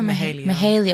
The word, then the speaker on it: Mahalia: a lot she's a babe is it mahalia mahalia okay i said it right look at me